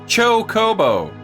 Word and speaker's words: Chocobo: Do you say chobbo or do you say chocoo Jesus? Choke a bow. Choke a bow. Chocobo.